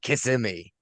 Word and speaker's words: Kissimmee: Just like you and I would call it Kissimmee down in Florida, but apparently the locals call it Kissimmee.